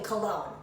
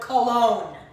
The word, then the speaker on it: cologne: you pronounce the word Cologne you only hear the end Cologne no you don't hear the G but when you do